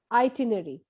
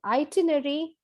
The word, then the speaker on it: itinerary: need to write an itinerary it's called an itinerary in the british english and the americans would love to pronounce this as itinerary so in both the stress is on the second syllable next word is jewelry